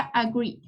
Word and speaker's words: agreed: Aquí la pronunciación sería agreed.